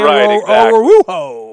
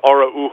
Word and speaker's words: Araujo: By the time he's gone, you're going to be saying Araujo. Right, exactly. It is Araujo.